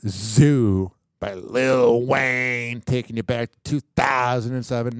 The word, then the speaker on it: Lil Wayne: you're probably wondering why when I say Lil Wayne I'm saying it like that cuz when you're talking about old school wazy you got to say it like little Wayne if you don't feel